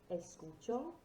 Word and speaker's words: escuchar: so repeat after me escuchar música remember whenever you have an accent that's where the emphasis of the word needs to do not rest o